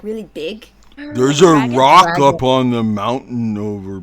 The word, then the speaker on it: roc: So, do they look like a bird or they I It's It's a rock. It's spelled R Oc.